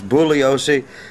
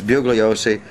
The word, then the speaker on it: Bugliosi: vincent bugliosi uh the the real way to pronounce it is booleasy but if you do that then only he will know uh who you're talking about to the rest of the world it's bugliosi he's the guy that